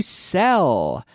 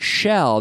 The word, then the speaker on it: sell: Sell. Sell. Not shell. There's no SH, but sell.